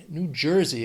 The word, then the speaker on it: New Jersey: 3 syllables. Stress is on, well, the first syllable of the second word, that New Jersey.